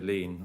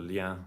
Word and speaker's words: lien: So there is an article in there where it says under 7.2, the lien or the lien, depending how you want to pronounce it, that Jersey Airport shall